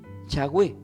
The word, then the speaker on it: Yahweh: Vieron que el verdadero nombre del Señor, de Dios Padre, hablando de Dios Padre, no de Dios Hijo, es Yahweh, sin vocales.